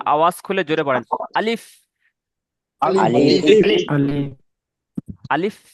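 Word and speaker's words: ألف: আলিফ যখন বলবেন এই যে দুটো ঠোঁট ভিজে অংশ মাঝখান থেকে হাওয়া বার আসবে। দেখেন আমার দিকে তাকিয়ে দেখেন আমার ঠোঁটটা কেমন হচ্ছে। আলিফ আপনারা দেখবেন আপনাদের দুটো ঠোঁটের মাঝখান থেকে একটা হাওয়া বার আসবে।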